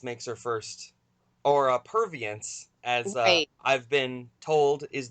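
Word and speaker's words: Purviance: and you know now of course and the provine's makes her first or a pervious as I've been told is the correct pronunciation and there's a film like I said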